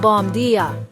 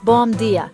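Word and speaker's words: bom dia: It sounds like bomb dia. The first word rhymes with home and the second sounds like dia. Listen, bomb dia.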